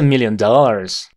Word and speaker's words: million: con T ten Million tiene dos sílabas esta palabra la forma fuerte está en la primera sílaba e corta million million y la segunda es una I Million I Million Dollars Dollars esto es